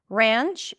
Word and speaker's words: ranch: Ranch is the a sound. Ranch before an N. R. It's like it's not a pure as in cat. It's not ranch. It's like an a sound that opens to an a. R. Ranch. So it's you hear the transition there. And then it ends with a ch sound.